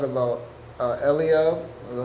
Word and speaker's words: Eliab: sheep, and then also what you said about Eliab, is that how you say his name? Eliab, yeah, and how like he also like said something.